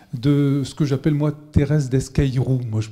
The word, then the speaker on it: Thérèse Desqueyroux: Vous avez pu voir, pour certains d'entre vous, le film Thérèse Desqueyroux de Georges Franju, donc version du début des années 60, à 16h15.